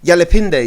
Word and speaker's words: Yalipende: Yalipende, yeah? Yalipende, yeah. Yalipende, sorry, I did this day thing. I know, it's all good. It could be day or in French it's Yalipende, in English Yalipende, so yeah.